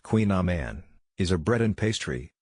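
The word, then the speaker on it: Kouign-amann: Queen Aman pronounced Queen Aman is a bread and pastry.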